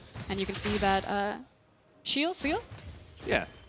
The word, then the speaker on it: Cyeol: And you can see that Seal? Yeah. How would you? Cyeol would be how you technically pronounce it, but you can just do what feels best for you, Frosco.